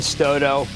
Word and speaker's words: Stoto: And Jeff Marks, Stoto. Thank you. Rhymes with photo, by the way.